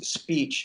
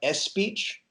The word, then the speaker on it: speech: Spanish speakers so it's when you're pronouncing its speech not s speech its speech yeah we how they